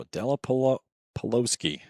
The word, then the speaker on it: Adela Pelosi: So Adela Pelosi. I'm pretty sure that I butchered her name for about the first half of today. And I realized I was putting an extra syllable in there that wasn't supposed to be there.